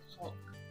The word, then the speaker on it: caulk: That caulk line, I'm trying to really overpronounce that L in that caulk word there, to keep this G rated.